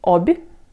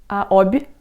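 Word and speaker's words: Обь: So here you can say that there is a soft sign which makes B soft, which is B, almost like B, but it's just B, Obь. Obь.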